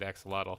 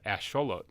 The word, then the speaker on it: axolotl: it's actually aztec so if you're saying it with an american or with an english accent you're gonna pronounce it axolotl the correct way to say it with the aztec accent is asholo interesting fact now granted